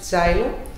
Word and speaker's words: Zylo: So we pronounce it zylo, but it's written with Z-Y-L-O.